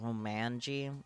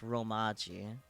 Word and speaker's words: Romaji: I just realized you put Romanji. It's Romaji. You know, without the N.